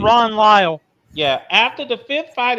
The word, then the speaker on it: Lyle: Lyle, by the way, because I know I mispronounced his last name. Ron Lyle.